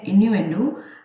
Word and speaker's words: innuendo: इसकी correct pronunciation है इन्यूएंडो।